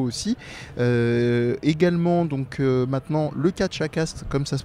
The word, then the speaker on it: Catchacast: en format vidéo aussi également donc maintenant le catch à castres comme ça se prononce c'est dur à dire mais c'est facile